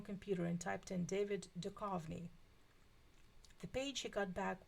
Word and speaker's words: Duchovny: It's Duchovny with an H. The H is silent.